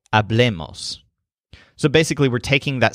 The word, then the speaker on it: hablemos: For the group, the stress is on the le, hablemos.